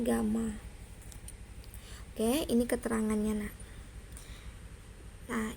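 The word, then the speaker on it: γ: Ini bacanya alfa ya, ini bacanya beta, ini bacanya gamma.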